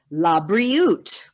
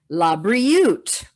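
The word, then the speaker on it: לבריאות: Labriut. Labriut. If you want to start from the back, ut, riut, labriut.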